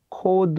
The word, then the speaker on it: Codd: " 코드 " 라고 발음 합니다 .